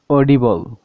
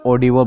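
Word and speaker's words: audible: যেমন অডিবল। তো এখানে দেখুন এ এবং ইউ একসাথে রয়েছে। তো এখানে দেখুন এ এবং ইউর উচ্চারণ এখানে স্বর হচ্ছে। দেখুন এটি অডিবল বলার সময় এ এবং ইউর উচ্চারণ এখানে স্বর হচ্ছে।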